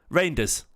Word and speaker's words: Reijnders: Um the Jay is silent. Reinders is it? Well, that's just Reinders then, isn't it?